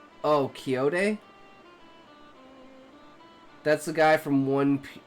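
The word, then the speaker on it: Quixote: It's a direct quote from the Dawn Quinn Quinn Quincadi movie pronounced Kiote. Oh, Kyote.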